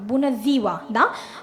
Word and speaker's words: Bună ziua: ගොඩක් කට්ටිය ප්‍රොනවුන්ස් කරන්නේ සයන්න, ශයන්න. ඒක වැරදි. රොමේනියන් වලින් අපි ලියන්නේ ඉසඩ් අකුරෙන් ඒක. එහෙනම් අපි z pronounce කරන්න ඕන. බුන zීවා.